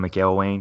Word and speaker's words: McElwain: Also, by the way, if you're not a active listener, Swamp Donkey is Jim McElwain. That's how you pronounce his name.